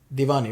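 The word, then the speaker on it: Deewani: Divani, right? I think the W is pronounced like that. Like V, v, yeah.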